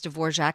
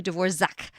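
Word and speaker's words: Dvořák: to correct him because I've always heard it pronounced as D'vorjac And then I thought I better check it online just to see.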